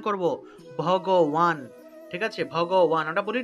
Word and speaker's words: ভগবান: আমরা তো শ্রী ভগবান বলে ফেলি, এটা শ্রী ভগবান হবে না, উচ্চারণ হবে শ্রী, তাল অবশ্য শ্রী ভগবান উওয়াচ, শ্রী ভগবান, কেমন?